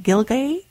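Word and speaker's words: Gilgai: The writer was on board the SS, I'll spell it, G-I-L-G-A-I, Gilgay, in December 1915 to February 1916, traveling from St.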